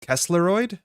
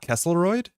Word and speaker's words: Kesleroid: My mind was blowed discovering that Kesleroid is pronounced Kesleroid and not Kessleroid.